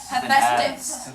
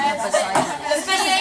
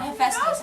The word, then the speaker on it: Hephaestus: Hephaestus. Not hepatitis. Everyone is Hey, Sometimes the class was Stop. arguing about it, and then you said Hephaestus, and no one said it right. PH. Not hepatitis.